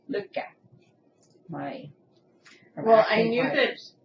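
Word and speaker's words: Lykke: That's how Selma said to pronounce it. Luca.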